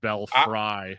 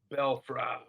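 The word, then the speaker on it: belfry: then realized I spelled I pronounced the word belfrey wrong and I said belf fry I almost did that initially and then I figured it out on the record it's belf so it's it's it's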